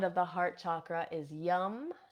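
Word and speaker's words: yam: Now the seed sound of the heart chakra is yum. Spelled y a um it's spelled y a m, but we pronounce it yum.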